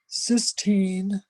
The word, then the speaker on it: cysteine: the weeds of it, there's amino acids called cysteine and cysteine. And cysteine is spelled Cysteine, and cysteine is without that first E, it's Cystine.